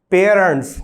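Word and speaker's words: parents: To obey your पेरेंट्स, पेरेंट्स उच्चारण पे भी थोड़ा सा ध्यान देंगे, पेरेंट्स न कि पेरेंट्स, ऐसे नहीं पढ़ना आपको, पे के साथ ए का साउंड लेना है, पेरेंट्स।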